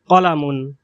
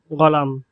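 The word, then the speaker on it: قال: এরপর কলা, কলা। বিশুদ্ধ আরবি ভাষায় কলা এর অর্থ হলো সে বলল। আর আঞ্চলিক আরবি ভাষায় এর উচ্চারণ হবে গল, গল।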